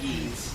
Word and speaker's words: Ys: Like, I'm just excited to see like Falcom actually uh, you know, giving another game to another franchise of theirs. I'm really to check out the the Y. It's pronounced E.